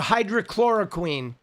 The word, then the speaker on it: hydroxychloroquine: Hydroxychloro oxy I can't I Dude, how is it How do you pronounce it? A hydroxychloroquine.